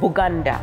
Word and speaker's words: Buganda: midst of this land, because they could not pronounce B, they always said Buganda, Buganda, Buganda, and usually